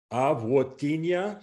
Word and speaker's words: avotiņa: Krimta cietu pēlavmaizi, avotiņa mērcēdam. So you heard. So there, those last two words, that avotiņa. So the O became a wo, and the first vowel on mērcēdam is like an A.